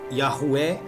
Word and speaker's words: Yahweh: Quando surge o tetragrama YHwh ou em hebraico yod rei fav rei cuja pronúncia é Yahué na história dos antigos hebreus.